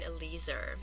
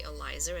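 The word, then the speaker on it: Eliezer: at the story of Rebecca and elizer and some will say elizer and both of those pronunciations are fine so what is the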